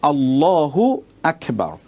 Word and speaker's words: আল্লাহু আকবার: এই যে এখানে দেখুন মূল উচ্চারণটা হবে আল্লাহু আকবার। আল্লাহু একটি শব্দ, আকবার একটি শব্দ। এখন আপনি আল্লাহু আকবার না বলে যদি আপনি